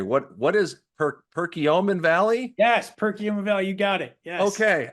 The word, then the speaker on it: Perkiomen Valley: So the Nova Lab is from, oh my gosh, I realized I never pronounced this word out loud. Gary, what is Perkiomen Valley? Yes, Perkiomen Valley, you got it.